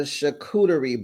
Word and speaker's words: charcuterie: Sophia, Shantae, So Gucci, it's called a charcuterie board, baby.